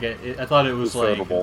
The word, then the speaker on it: Ufotable: In Japan, they straight up say UFO as UFO. So like, UFO. Well, yeah. But well, like I mean, either way, like I thought it was Ufotable.